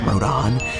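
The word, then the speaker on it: Rodin: yes I know it looks supposed to be pronounced rodent but it's actually supposed to be pronounced Rodan see if you actually played the games you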